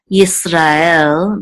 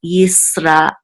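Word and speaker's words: ישראל: You don't want to say Yisrael, but Yisrael. This, you should have some kind of pause or breath right after Ra and before the Aleph. Because I know they say that Aleph is silent, but it's not really just silent. It's actually a pause.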